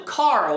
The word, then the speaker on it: Carl: Eu sei que é difícil, mas o coral, por exemplo, Carl, o nome Carl perda em inglês é loss. Então, perda de carro. Car, loss, car loss, Carlos. Carlos. Aí você termina, tira o loss ali, ó, o Carl.